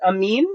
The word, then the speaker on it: Emin: Is that one pronounced Amin or Amine? Psychic. Good job, Zonum. It's pronounced Emin.